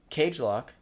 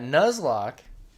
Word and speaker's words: Nuzlocke: then when we started that cage lock did i say it right um you finally said it correctly yes when we started that nuzlocke you love me cage